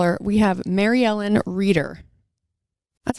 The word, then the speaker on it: Reider: about to call her we have mary ellen reader that's how you pronounce the last name reader writer writer writer writer and we'll ask her